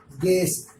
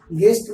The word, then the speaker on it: guest: कायदा है, अगर यू के बाद AE में से कोई एक हर्फ हो तो यू हमेशा साइलेंट रहता है, जैसे GUEST, गेस्ट, गेस्ट मीन्स मेहमान, GUARD, गार्ड मीन्स चौकीदार।